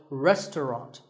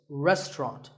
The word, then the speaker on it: restaurant: fancy spelling confuse you the second syllable is just T and the third is rant so restaurant in British English you might hear just two syllables restaurant that is also correct after you eat at